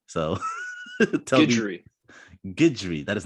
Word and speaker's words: Guidry: Yeah, I hear people say Guidry, Guidry. It's Guidry. I read it as I don't really care though. It's like a hard last name to pronounce. Like looking at it, there's like a million different ways in English you could say it.